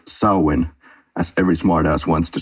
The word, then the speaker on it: Samhain: the beach and point out that it's actually pronounced sulwon as every smartass wants to say but continued